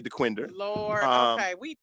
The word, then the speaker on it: Dequindre: saying Gratiot but um de quinder we say Dequindre but these are slave